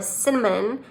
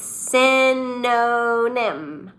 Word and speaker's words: synonym: And sometimes that word synonym is fun to say because sometimes we can't say it and we say synonym or cinnamon, but it's synonym.